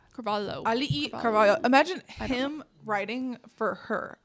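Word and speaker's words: Auli'i Cravalho: Alii Carvalho. Alii Carvalho.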